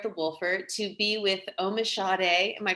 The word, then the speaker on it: Omisade: today here at the Wolfer to be with Omisade. Am I pronouncing it right? Omisade? Omisade.